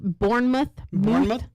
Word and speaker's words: Bournemouth: It's called Bournemouth. Bournemouth. Okay. M-U-T-H is how she said Oh, it pronounced okay.